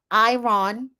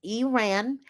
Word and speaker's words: Iran: She was named after Stevie Nicks, and she gives us an education on the pronunciation of Iran versus Iran. So it's not Iran, it's Iran.